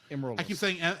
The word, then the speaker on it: Emeraldus: Emeraldus. I keep wanting to say Esmeralda, and that's what's throwing it.